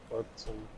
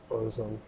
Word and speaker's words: Burzum: Have you guys, John, have you heard of a band called Burzum? Or known as Burzum by some, like it depends how you pronounce it. What is it again? Burzum, like B-U-R-Z-U-M.